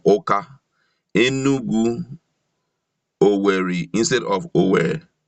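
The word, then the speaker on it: Awka: These we see in our towns and cities, ill written and pronounced like Onitsha instead of Onisha, Aukwa instead of Oka, Enugu, Owerri instead of Ower, and so on to please some people.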